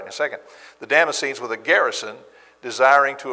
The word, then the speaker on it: Damascenes: In Damascus, the governor under Aretas the king was guarding the city of the Damascenes, I'll say it right in a second, the Damascenes with a garrison desiring to arrest me.